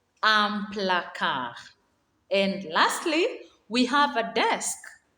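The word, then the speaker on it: un placard: be called desert dessert a cupboard is called amplaca amplacar and lastly we have a desk a desk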